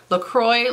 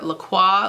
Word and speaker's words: Lacroix: Lacroix, like the water, like the sparkly water, or Lacroix, like the actual French way that you pronounce it.